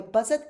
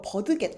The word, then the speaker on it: budget: 나는 학생이라 so my budget is tight. 나는 학생이라서 나의 budget, 예산이 tight. 빠듯하다. 이런 표현도 있었습니다. 이거 버드겟 아니죠. budget.